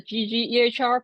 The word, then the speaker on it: ggehr: p uh pilot package called ggr so it's pronounced ggr because it's a ggplot 2 extension for EHR